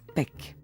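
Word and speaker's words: pek': qui signifie chien mes chiens en maya se prononcent pec zeller en conclut que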